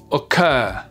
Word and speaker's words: occur: verbes, vous faites pause, vous prenez le temps de vous entraîner à les accentuer sur la 2e syllabe et vous vérifiez juste après. Refuse, refuse. Prefer, prefer. Occur, occur.